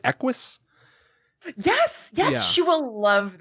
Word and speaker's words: Equus: Am I pronouncing this right? Equus?